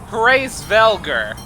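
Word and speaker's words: Hræsvelgr: proper pronunciation is apparently grace velgar okay that's fine that's doable and apparently you're supposed to put like a bunch of emphasis on the h so yeah that we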